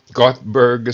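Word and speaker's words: Göteborg: And it's got that 0 with 2 dots over the top. Not 0, but O with 2 dots on the top. So I think that's pronounced Gothenburg, Sweden.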